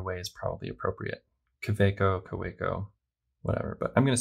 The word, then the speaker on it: Kaweco: lot by the way i know that there's maybe a little bit of a debate about how to pronounce kaweco i say kaweco because most people say quebeco but if you watch videos by gold spot they actually say cowego i think and in some